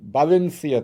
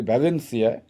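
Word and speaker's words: Valencia: Alvarez সে এসেছে স্পেনের ব্যালেন্সিয়া থেকে আমরা হয়তো উচ্চারণ করি ভ্যালেন্সিয়া কিন্তু স্প্যানিশের ভি এর উচ্চারণটা বি এর মতই আচ্ছা ব্যালেন্সিয়া থেকে এক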